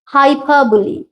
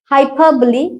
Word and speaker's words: hyperbole: রোল কিন্তু IP symbol দিয়ে দেখবে এখানে ওয়ার্ডের উচ্চারণটা হবে হাইফাবলি হাইপারবলি হাইপারবলি এর মানে কোন কিছু বাড়িয়ে বলা অতিরঞ্জিত করা